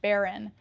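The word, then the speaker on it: bodhrán: It doesn't look like it's pronounced like that, but I think it's pronounced Baron.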